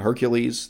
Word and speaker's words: Hercules: And so in this video, I'm mostly going to say Heracles, not Hercules. There are two ways of pronouncing the same name in modern English.